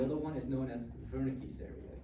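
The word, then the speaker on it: Wernicke: one is known as vernick's area. The W is pronounced as a V, right? You can call it Warick if you want to, but doesn't matter as long as you spell it correctly.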